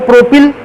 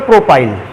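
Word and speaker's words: propyl: में लग गया YL, तो या तो प्रोपिल और या तो अंग्रेजी उच्चारण करते समय प्रोपाइल।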